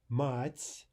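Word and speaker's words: мать: Compare these two words. Note how they're written first of all. Mats, mats, which means mother, and mat, mat, which means vulgar language. Now note that in the second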